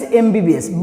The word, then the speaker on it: MBBS: But my dear students, please remember, it is written in short form, abbreviation. That means MBBS. But what you are reading? M. First M, B, B, short form. M, A. What sound is coming?